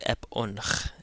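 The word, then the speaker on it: ⲡ̀ⲱⲛϧ: So this is ep again that jinkham adds a short e sound before the p in coptic epon.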